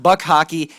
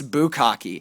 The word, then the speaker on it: Bukaki: best team name ever it's not Buck hocky it's bukaki an excellent pun gentlemen